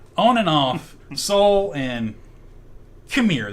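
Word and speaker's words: Qimir: So, on and off, Saul and Khmer. That's his name. Khmer. It's spelled Qmir. Khmer.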